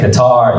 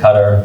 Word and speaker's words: Qatar: how to pronounce it so I say guitar you said cutter so the story I saw on Yahoo news this morning there's like six different pronunciations and the reason for that is because the way Arabic is translated into English right right so I've seen commercials like qatars put out and they say guitar I'm like if they